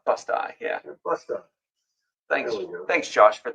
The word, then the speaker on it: Busti: It's with a long I. How do you pronounce it? Busta. Busti, yeah.